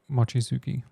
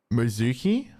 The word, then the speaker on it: Mochizuki: According to Takesha, do you want to pronounce that for me, because I will butcher it? Mochizuki. Mizuki?